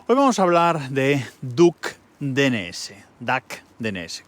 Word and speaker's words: Duck: Hoy vamos a hablar de Duck DNS, creo que se pronuncia duck en inglés, pato.